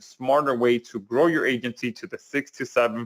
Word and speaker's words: AIgency: I'm introducing you today to Agency Valet. Uh the I is silent. All right. It's just there for pretty much uh visual aesthetics.